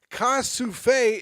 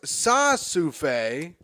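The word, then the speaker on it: ça suffit: Liza says, Ka-souffle is pronounced sa-souffle and means that's enough.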